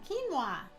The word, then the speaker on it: quinoa: are also all gluten free let's start with quinoa this is how we pronounce it some people have different ways they